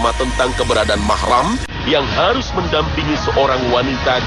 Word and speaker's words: mahram: Dengan begitu, kata-kata muhrim yang sering diucapkan masyarakat dalam konteks ini tidaklah benar. Yang benar adalah mahram.